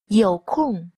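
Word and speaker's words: 有空: Yǒu kòng. Yǒu. Yǒu. Kòng. Kòng. Yǒu kòng. Yǒu kòng. Từ này đọc là yǒu kòng và uốn lưỡi ở cuối.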